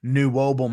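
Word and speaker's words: NWOBHM: people say I think Bruce Dickinson coined knew wam as a word I think he was one of the first people I ever heard say it like to say the acronym that way yes oh okay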